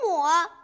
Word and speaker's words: 抹: 雨亦奇，亦读四声，总相宜，宜读二声，淡妆浓抹，抹是三声，镜未磨，磨是二声。